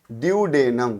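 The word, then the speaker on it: duodenum: ड्यूडेनम। क्या नाम है? ड्यूडेनम। एक दो बार उच्चारण कीजिएगा तो आप लोग बोलना सीख जाइएगा।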